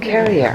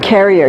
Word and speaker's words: Cerier: Like a hard C. Oh, Carrier. Carrier, yeah.